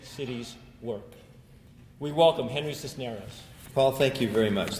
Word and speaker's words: Cisneros: My name is Cisneros in Spanish, if you can roll the R's. If not, I'll accept the English pronunciation Cisneros.